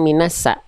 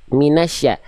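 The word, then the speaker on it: مِنَ ٱلشَّيْطَانِ: Minasya tadi Bunda melafalkan minasa. Minasya. Auzubillahiminasyaitanirrajim. Syin. Syin itu dilafalkan e kalau dilatinkan tuh sy a.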